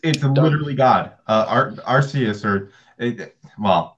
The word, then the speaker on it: Arceus: it's infinitely God our Arceus or a mom they pronounce it Arceus which is just stupid it's Arceus yeah say that would